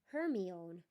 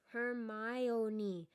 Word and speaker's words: Hermione: He kept calling her Hermione. Hermione, she said slowly and clearly.